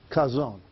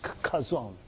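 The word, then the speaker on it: chazon: And the word vision right there in the Hebrew is kazon. C-H-A-W-Z-O-N, something like that. You can spell it different ways, but it's kazon.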